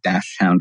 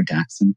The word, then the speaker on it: dachshund: Yes, and even different regions of the U.S. here pronounced very differently. I've become a very active community member in the dachshund or dachshund community here in South Florida.